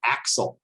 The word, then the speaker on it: ACSL: out very recently that you're supposed to call it axel uh like pronounce all